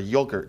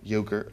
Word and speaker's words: yogurt: a commercial, for a yogurt commercial. Yogurt, as some of you incorrectly say. And how should we be saying it? Yogurt. Sure. You're not pronouncing the T.